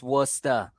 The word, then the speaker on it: Worcester: That's not how it's pronounced. It's Worcester.